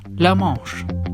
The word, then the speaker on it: La Manche: Due to its French name, it should actually be pronounced La Manche.